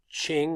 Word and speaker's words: Qing: gonna take a Chinese name Qi ng is pronounced Ching like CH ing so the Ming are overthrown